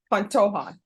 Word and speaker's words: Pantoja: How do you pronounce it? Pantoja.